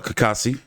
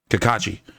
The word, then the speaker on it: Cacace: some money on um or kassi Kakashi I keep forgetting uh the H the silent h I would to put